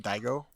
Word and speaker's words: Daigo: the main character's name I don't want to mispronounce it Daigo Daigo Dao okayo so Daigo um we first